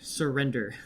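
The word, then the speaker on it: SirWrender: And so you can find me at Surrender, which is a bit of a pun, so I have to spell it. So it's SIR and then my name and then DER. Surrender.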